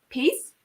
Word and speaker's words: Pierce: It's like peace. Peace, I think. Yeah. Is that how you say it?